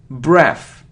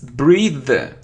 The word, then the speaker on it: breathe: look a complete so it isn't breath its breathe breathe breathe because it's a verb yeah because it's a verb so breathe there so if it's without it so it's breath its if it's with e so it's breathe look it isn't photography